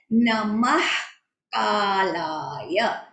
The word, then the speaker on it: नमः कालाय: क इज the first letter, तो विसर्ग के बाद जब भी क फर्स्ट लेटर या फिर ख फर्स्ट लेटर होता है तो उसका प्रोनाउंसिएशन होता है नमः कालाय, नमः कालाय। दैट एस्पिरेटेड साउंड आना चाहिए।